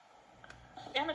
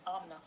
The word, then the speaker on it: Amna: Anna, did you say where you're from? Jesus. You know my name is pronounced Amna.